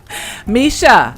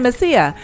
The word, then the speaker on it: Misha: I was saying Messiah. I'm sorry, Misha.